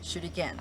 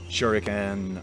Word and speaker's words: shuriken: blade inside of the hand and it is pronounced shoot again shoot again can we say that all together